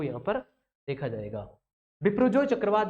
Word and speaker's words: Biparjoy: ये इस प्रकार से इसका सही जो प्रोनाउंसिएशन है वो ये होगा बिपरजॉय, और ये बांग्लादेश के द्वारा दिया गया है।